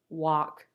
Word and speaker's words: walk: When you see the L, it's always the L sound, except for a few cases where the L is silent, like in these words, would, walk, half. There are no other letters that make the L sound.